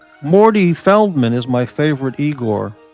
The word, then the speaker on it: Igor: I don't, 3 months ago, I kind of abandoned, for my own good, that island, Morty Feldman is my favorite Igor, pronounced Igor.